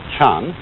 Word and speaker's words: Chan: And that is the Japanese way of pronouncing the Chinese word Chan.